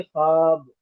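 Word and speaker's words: خواب: तीसरा है वाव मादुला ये वाव लिखा जाता है लेकिन पढ़ा नहीं जाता ये वाव अंग्रेजी के जैसे के बहुत ज्यादा साइलेंट होता है इसी तरह इसको को लिखा जाता है, पढ़ा नहीं जाता। जैसे ख्वाब हमने ख्वाब में वाव को लिखा है। क्वाब है ये। लेकिन हम पढ़ेंगे ख्वाब।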